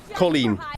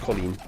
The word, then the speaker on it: Colleen: Colleen. It's pronounced Colleen.